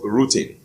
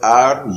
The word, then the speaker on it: rutin: Now, one of them is a bioflavonoid that is called rutin. It is spelled R-U-T-I-N, rutin.